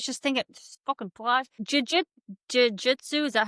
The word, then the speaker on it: jiu-jitsu: Jiu-jitsu, is that how you say it? You fucking fly. Jujitsu, yes.